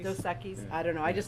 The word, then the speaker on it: Dos Equis: and what I found so fascinating was I loved that there was regional, and Dosakis. Go Or for it. I'm sorry, how do you say it? Dos Equis? Dos Equis.